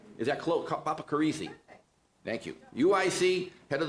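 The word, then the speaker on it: Papacharissi: Mainly because I want to see if I can still pronounce her name. Zizi Papacarisa. Is that close? Papacarisi.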